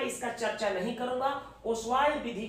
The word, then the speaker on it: Ostwald: और दूसरा प्रोसेस होता है ओस्वाल्ड प्रोसेस, हिंदी में इसी को ओस्वाल्ड विधि कहते हैं। टी नहीं हम लोग पढ़ेंगे, साइलेंट।